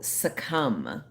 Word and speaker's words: succumb: Oh, succumb. Succumb. Succumb? I think the B is silent.